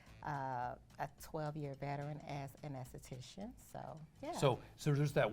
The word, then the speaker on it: aesthetician: It's just the A Careful. is silent. The A is silent. Okay. It's still the same. So esthetician Yeah.